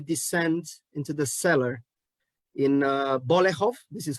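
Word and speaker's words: Bolechów: scene when you descend into the cellar in Bolehov, this is how you pronounce it, where your relatives are hiding from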